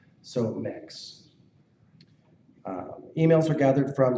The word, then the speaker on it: Mx: diversity our new category of currently we've been pronouncing it as MX however after Consulting and this is important please